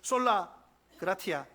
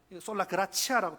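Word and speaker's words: sola gratia: 라틴어로는 종교 개혁자들이 솔라 그라티아 솔라 그라치아라고 두두 가지로 발음합니다.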